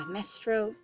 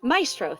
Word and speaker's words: maestro: night quietly overseen by mestro is it maestro it's maestro maestro thank you i knew i wasn't pronouncing that right maestro debussy